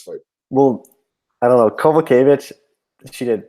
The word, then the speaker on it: Kowalkiewicz: Karolina Kowalkiewicz against Alexa Grasso. The odds opened at Kowalkiewicz. Sorry, I'm pronouncing her name wrong.